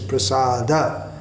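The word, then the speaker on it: prasāda: Prasad odd part pasado but here it's prasada it changes the meaning if we mispronounces Chaturvedi ha Chaturvedi ha shrimp hello at prasada not Prasad o swag wanna trip tong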